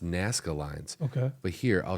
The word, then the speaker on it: Nazca: It's pronounced Nazca lines.